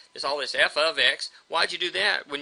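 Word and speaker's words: f(x): That's f open parentheses x close parentheses and that's pronounced f ofx.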